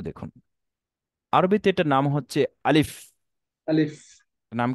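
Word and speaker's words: ألف: যেমন একটু দেখুন, আলিফ, আলিফ। এটা দুই ঠোঁট মিলে গিয়েছে, এটা হুম, উচ্চারণ প্রপারলি বিশুদ্ধ উচ্চারণ হয়নি। বলতে হয়। আলিফ।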